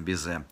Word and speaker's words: безе: торт, там идет обязательно безе. Безе – французское слово, поэтому ударение, как всегда во Франции, все на последний слог. Безе вот с таким прононсом, таким вот, безе… В переводе с французского это вроде как целовать.